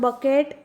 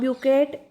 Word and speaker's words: bouquet: So it is not bucket, it is not bouquet, but it is pronounced as bouquet.